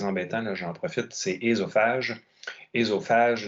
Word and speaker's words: œsophage: Un autre mot qui est très embêtant, là, j'en profite, c'est ésophage. Ésophage, la plupart des gens disent soit œsophage ou œsophage, mais c'est ésophage qui est la prononciation correcte. Donc, le O est muet.